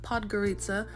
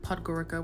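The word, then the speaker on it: Podgorica: girl was looking cute I learned the proper pronunciation of pod Garita I was calling it podara which where I'm going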